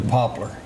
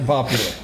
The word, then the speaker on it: Poplar: I'm glad you changed that to Poplar. It's people Poplar. Around there get upset when you say Popular.